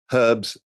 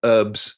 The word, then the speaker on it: herbs: Yet you call herbs or herbs if you're American.